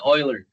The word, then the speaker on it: Euler: No, I mean well, this dude spoke German, and that's the German or close to the German pronunciation.